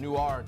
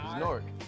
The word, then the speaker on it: Newark: k NF North N I hate when people pronounce the W in it N I go n